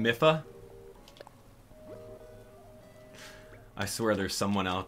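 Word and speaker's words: Mipha: wild absolutely it is here we go okay mifa mifa mifa let's go let's put her in do some of you guys pronounce her name miffa i swear there's someone out there that's like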